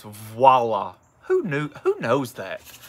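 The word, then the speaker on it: voilà: onto him they said it's not wallah it's voila who knew who knows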